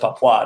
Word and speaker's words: Papua: to do uh now it's actually West Papua they told me you know my wife was telling me I was mispronouncing it but when I talked to the brothers and sisters they were like no keep saying Papa we like that because